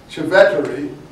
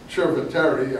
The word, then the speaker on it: Cerveteri: Anyway, C-E in Italian is ch. It's not s. In case you are wondering why you say ch. In Civeteri or Cerveteri, there are these mounds.